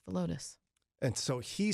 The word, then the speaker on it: Villodas: There's rules in Spanish, like in English. 2 L's make a Y sound. The end. Not always. Sometimes people make them a J sound.